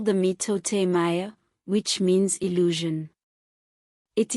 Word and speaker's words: mitote: Your whole mind is a fog which the Toltecs called a mitote, pronounced mitote.